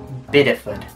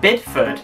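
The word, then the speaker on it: Bideford: ones but some that were like possible is pronounced biddeford that was almost you were you said bidford if you just had big e food you'd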